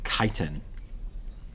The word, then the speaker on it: chitin: one i think is chitin that's pronounced chitin and we see this